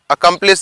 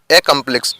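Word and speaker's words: accomplish: अकम्प्लिश या एकम्प्लिश। ठीक है। इसको हम आ और ए के साउंड के जैसा प्रोनाउंस करते हैं। ठीक है, वर्ड के अनुसार।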